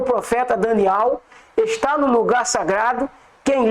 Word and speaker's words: Daniel: falou o profeta Daniel, aqui tá escrito Daniel, irmãos, mas a pronúncia certa é Daniel.